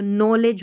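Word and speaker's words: knowledge: इसको जॉ पढ़ा जाता है, ये लेज हो गया तो नॉलेज हो गया, यहाँ पर के साइलेंट है।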